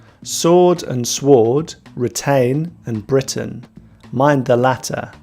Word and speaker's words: Britain: Retain, ain is the sound A, retain, and Britain, the sound is which is a schwa sound, Britain.